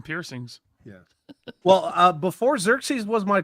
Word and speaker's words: Xerxes: Xeries. Xerxes. Zer. So, okay. Xerxes. Yeah. You know, God King 300 Xerxes. Yeah. Oh, I see the resemblance. Just need some Yeah. some piercings. Yeah. Well, uh before Xerxes was my call sign, there was a hot